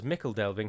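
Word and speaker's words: Michel Delving: annoyingly the town that we now know is pronounced as mickel delving has fallen to angma and the shire is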